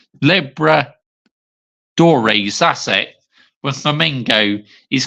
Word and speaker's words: Libertadores: won the Copa Liberties. Libertadores. Let's see how I can pronounce this right. Libertadores, that's it.